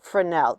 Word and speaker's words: Fresnel: in february it's spelled f-r-e-s-n-e-l-s it looks like fresnels it's actually pronounced for now the s is not pronounced in the middle of it now this is a